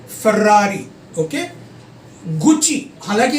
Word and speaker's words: Ferrari: Ferrari, okay? Gucci, हालांकि ये Italian word है बट मैं इसको फिर भी ठीक से प्रोनाउंस कर रहा हूँ.